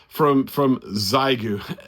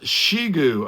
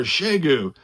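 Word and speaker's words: Xiegu: it, the HF009 from Zygu. There's another one. I get corrected on that one all the time. It's pronounced Shigu, okay, or Shegu.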